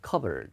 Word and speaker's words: cupboard: In the cupboard. 자, 발음 조심해요. 이게 찬장인데요. 컵보드가 아니라 피 묵음이에요. 그 다음에 컵보드가 아니라 covered입니다. 발음이 covered.